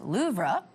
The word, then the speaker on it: Louvre: The Louvre is actually pronounced Louvre.